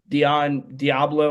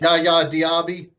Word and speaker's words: Yaya Diaby: If they aren't there this week, you got Vita Vea, you got Dion Diablo. I think that's how you say it. Yaya Diaby. There we go.